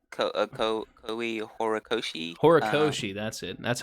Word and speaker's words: Horikoshi: and it was written by how do you pronounce his name? Um, Kohi I know his last name is Kohi like Koi Horikoshi. Horikoshi, that's it.